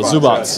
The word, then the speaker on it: Zubac: Zubats. No, Zubats. Yeah, I asked him. Like a TS.